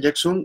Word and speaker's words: Yaxun: Jackson se escribe YAXUN. Esa parte es importantísima.